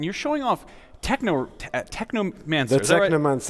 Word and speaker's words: Technomancer: The Technomancer, right? It rhymes with my favorite book, Necromancers, or Neuromancer, Technomancer.